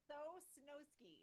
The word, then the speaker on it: Sosnowski: Sosnowski, just how it's spelled.